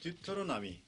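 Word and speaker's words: Deuteronomy: 그다음에 영어 성경에는 듀토로나미. 这英语的发音是这样的， 듀토로나미.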